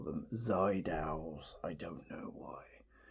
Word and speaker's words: Seydel: I think a lot of people call them Seydels. I don't know why. Because it's spelled with an S. Seydel. Anyway, Seydel. I say Seydel probably because a lot of people do.